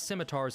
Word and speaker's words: scimitars: That being said, a few of the Gerudo's more advanced warriors utilize scimitars in combat, which are traditional pan-Arabic, even panislamic.